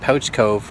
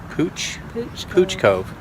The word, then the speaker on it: Pouch Cove: Then we went out to, I kept calling it Pouch Cove, but it's spelled like that, but it's Pooch Cove.